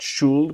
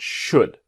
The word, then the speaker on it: should: should do now remember should the l is silent not shulled but should what do you think